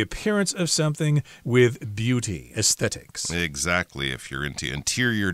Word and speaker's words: aesthetics: of different views about aesthetics." That's a hard one to say. Aesthetics. You got to put the th sound in there.